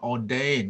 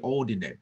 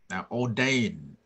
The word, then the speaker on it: ordained: ย ง ว่ า ordained ไ ม่ ใ ช่ ordinate น ะ ค รั บ ordained I was ordained น ะ ค